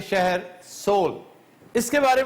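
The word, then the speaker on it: Seoul: सोल इसके spelling सियोल के ही है। लेकिन लफज़ सोल है।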